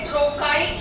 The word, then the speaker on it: trochaic: गया, और इसका ऑपोजिट आपका होता है stressed syllable followed by unstressed। इसका ऑपोजिट, iambic का ऑपोजिट होता है ट्रोकाइक या ट्रोकी।